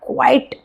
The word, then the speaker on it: qui: Qui means who, alright? Qui, who. Q-U-I together, we pronounce it qui.